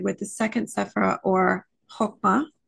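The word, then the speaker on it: Chokmah: the second sephira or hokma hogma different pronunciations I'm gonna go with hokma c-h-o-k-m-a-h is one spelling and some kabbalistic scholars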